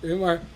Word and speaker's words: Weimar: In the Weimar, how do you say, Weimar Republic? Weimar.